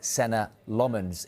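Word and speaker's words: Senne Lammens: United opted to sign Senna Lomans instead. That is how you say it. We've checked it.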